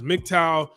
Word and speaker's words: MGTOW: when you say it it's an acronym that you can say you don't have to pronounce every letter it's just mgtow right two-syllable acronym um the the meaning